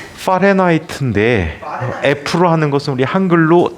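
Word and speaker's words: Fahrenheit: 문제 때문에 독일 뿐이거든 독일어로이 사람의 이름을 표현해 볼게요 파레나이트인데 f로 하는 것은 우리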